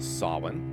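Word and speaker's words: Samhain: Sin approximately pronounced Sin.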